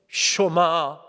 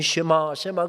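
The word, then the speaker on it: שמע: 쇼마 이스라엘, 이스라엘아 들으라. 쇼마 이스라엘. 눈물 젖은 설교가 그렇게 펼쳐집니다. 우리는 이 쉐마 그렇게 합니다만은 정확한 히브리어 발음은 쇼마이지요.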